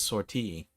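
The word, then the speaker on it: sortie: I always pronounce it as sort, but she says sorti almost as if it's like a word bar from French, which it might be.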